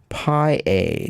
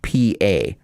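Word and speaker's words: pipa: myself and iphone said wouldn't it be pi a now i think she had said that it's pronounced pa so that's what i think that's what she told me so i'm just i'm just going with what i was told pronounce it alternative is the full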